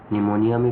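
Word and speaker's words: pneumonia: निमोनिया में P silent होता है, लाइक ऑर्गेनिज्म।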